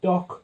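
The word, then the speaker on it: דק: small and thin okay you pronounce it doc that means something crumbling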